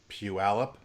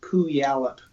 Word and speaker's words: Puyallup: not because only natives know how to say Puyallup. Everybody else mispronounces it. Puyallup? Is that how you say it? Yeah. Puyallup. If you're not from around, you can say Pooyallup.